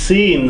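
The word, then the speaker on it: س: So first one is sin. Sin, sa, si, su, sama, samak, sun, sin.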